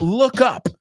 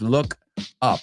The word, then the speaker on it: look up: So just from that look up, y fijaos en la pronunciación, no es look up, it's look up. La sonido K realmente se une con la segunda parte.